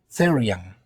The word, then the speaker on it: therian: The correct pronunciation is 'thee-ree-an,' but for practical purposes, in this video, we will say 'therian.'